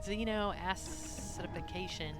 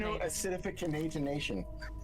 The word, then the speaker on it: xeno acidification: Okay, so xenoidification. Come on. You got to pronounce it correctly. It's xeno acid acidification. Oh, acidification. Xeno acidification.